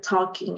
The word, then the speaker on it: talking: They are talking. Excellent. Algunas veces hay letras silenciosas. Talking es una de ellas, donde se escribe con L, pero no se pronuncia la L.